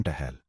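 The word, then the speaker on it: tuple: Formal relational theory में एक रो को टूपल कहा जाता है। जिसका प्रोनाउंसिएशन टहल या ट्रूपल होता है।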